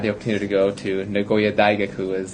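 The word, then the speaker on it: 名古屋大学: And so I had the opportunity to go to Nagoya Daigaku, is how they say it in Japanese, the university.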